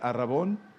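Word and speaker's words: ἀρραβών: de las arras del Aragón que es así se pronuncia en griego y estamos hablando de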